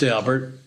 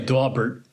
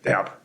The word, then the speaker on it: Daubert: By the way, just so everyone knows, Dalbert is pronounced Dalbert. I used to say Dalbert. Snobs say Dalbert. But Mr. Dalbert is on record as saying that he pronounces his name Dalbert.